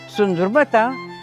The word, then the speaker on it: сундурма: нали, тераса, а веранда, сундурмата, най-правилното произношение е сундурма.